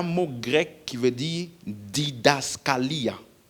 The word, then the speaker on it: didaskalia: Le mot enseigner ici, c'est un mot grec qui veut dire didaskalia. Didaskalia. Comme ça s'écrit D-I-D-A-S-K-A-L-I-A.